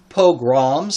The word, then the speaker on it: pogroms: spelled correctly and it is I'm going to pronounce it correctly for you pogroms against Jews in Russia and Poland especially from